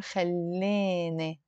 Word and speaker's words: خلاني: خلاني, in the Lebanese dialect, we will pronounce it more خليني. The E and the E. The Alif is a E and the Ye is a E. Both exactly the same sound.